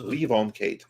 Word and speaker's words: Levon Cade: the series of uh Levon Cade I pronounce that correctly I've only seen it written yeah Levon Kate is the leave on Kate yeah there you go